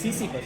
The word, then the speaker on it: Sisyphus: Sisyphus. It's true pronunciation.